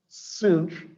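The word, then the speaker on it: sinh: how people pronounce these this is usually pronounced cinch of x and that is cosh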